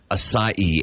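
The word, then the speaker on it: açaí: said that one mhm aai one more time asai a c a i but I always thought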